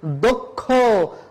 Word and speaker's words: দক্ষ: যোগ মধ্যানুষ তারা খুবই দক্ষ না দক্ষ বলা যাবে না এটা ভুল উচ্চারণ যদি তুমি সঠিক ভাবে উচ্চারণ করতে চাও তাহলে বলতে হবে দক্ষ যজ্ঞ না যোগ্য এই যে